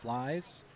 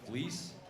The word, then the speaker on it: Fleece: I mispronounced it the first time. It's Regan Fleece, Harper Johnson, Cooper Keefe, Connor Paulson, and Caden Paulson.